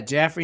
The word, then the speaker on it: Jaffrey: Yeah, Jaffrey, New Hampshire.